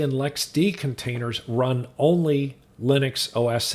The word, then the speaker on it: LXD: could be an lxc or lxd container otherwise pronounced lexi and lex d properly but i tend to call them lxclxd